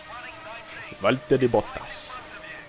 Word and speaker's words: Valtteri Bottas: I said Valtteri Bottas with a Finnish accent. I know that's slightly accurate because I asked a Finnish person whether that's how they pronounce Valtteri Bottas. And it is.